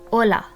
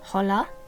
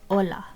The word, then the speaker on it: hola: basic hello which is hola in Spanish the H is silent so you don't pronounce it it's not hola it's just hola the next phrase is